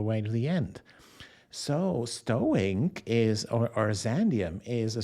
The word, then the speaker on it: STOINC: I love to pronounce it STOINC, by the way.